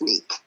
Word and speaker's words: Tanique: Okay, so it's actually Tanique. It's pronounced Tanique.